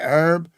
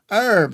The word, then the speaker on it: herb: Herb. Herb. The old French pronunciation. And herb is modern herb. Many Americanisms are in fact more authentic to the original spellings that thank you English addict.